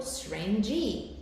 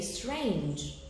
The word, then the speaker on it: strange: reality it's a diphthong but the final e here finally is not pronounced so you don't say for example strange e we say strange so the last the final E is not pronounced that's why the word contains only one syllable for the second word